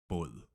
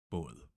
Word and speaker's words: båd: Lastly, we have O. It sounds a little bit like the O in more. So more, O, or. And the example here we have boat. It means in Danish, båd, båd.